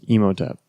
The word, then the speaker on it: Imhotep: you see mode upped how you say it Imhotep yes and he's the first member the first